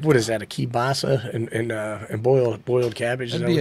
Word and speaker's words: kielbasa: Kielbasi, as they say in Baltimore. We're just going to add a whole bunch of syllables that don't exist.